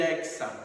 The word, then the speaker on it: hexa: forma diferente olha só a palavra táxi por exemplo a palavra box e a palavra tórax tem a pronúncia de KS que é a mesma de hexa Olha só como a